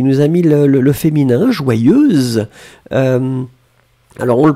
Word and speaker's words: joyeuse: Berilla, qui nous a mis le féminin, joyeuse. Alors, on le prononce, Berilla, on prononce un petit peu différemment. Hein. Si c'est le masculin, c'est joyeux, E-E-E à la fin. Si c'est le féminin, c'est joyeuse.